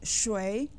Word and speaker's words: 谁: 谁. There are two ways to say who in Chinese. We have learned and used 谁. Another pronunciation is 谁, which you might hear from time to time.